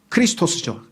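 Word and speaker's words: Χριστός: 번역을 하면 그리스도예요 물론 크리스토스죠 헬라어로 발음하면 크리스토스 그를 영어로는 크라이스트 우리말로는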